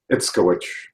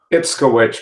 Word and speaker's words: Itzkowich: How do you pronounce your second name? Itzkowich. Sorry, could you say that again? Sorry. Itzkowich, but since nobody can pronounce it, you can call me I, the LinkedIn guy.